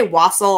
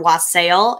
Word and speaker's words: wassail: about it tonight and you can say wassel or wassail it's spelled wasp sale so a lot of people say wasp style i like wassel just because it sounds nice but wassel is just